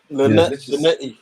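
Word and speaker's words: Linetty: Linetti.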